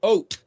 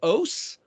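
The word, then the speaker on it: אות: or agree it's pronounced oat but because the Tav is pronounced as an s or a th it might be OS or it could be pronounced oath oath well what's an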